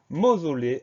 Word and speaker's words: mausolée: Le son O qui s'écrit une fois U, une fois O. Et enfin le E qu'on n'entend pas à la fin. Mausolée, M-A-U-S-O-L-E accent aigu, E.